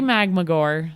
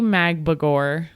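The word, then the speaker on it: Magbegor: Ezzy Magmagor. Say it again. How do you say it? Just try again. Ezzy Magbagor had 3 key blocks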